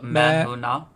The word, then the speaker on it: Main: to butcher for now Main or my man so do not pronounce the N do not pronounce the N so man yes M okay perfect